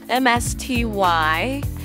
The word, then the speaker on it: Msty: And Msty is spelled M-S-T-Y, but pronounced Msty by the developers.